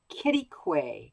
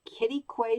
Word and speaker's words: Quitaque: rock canyon state park let me see if i get this get this correct kitty quay kitty quay texas it's taken a while to get the pronunciation correct but that's what the locals tell me it is so this is an